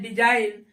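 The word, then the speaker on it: design: हो जा रहा है डी ई एस आई जी एन इसको पढ़ते है डिजाइन और यहां पर क्या हो रहा है जी साइलेंट हो रहा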